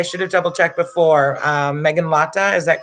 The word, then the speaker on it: Meghanlata: Hello, did I pronounce? I should have double checked before. Meghanlata, is that correct?